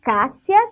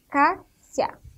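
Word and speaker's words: Kássia: O Cássia tem o som de. A gente pronuncia com o som de C. Mas nós escrevemos com o K. Então, é Cássia.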